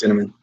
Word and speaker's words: Dinniman: Yeah, it's Dinniman.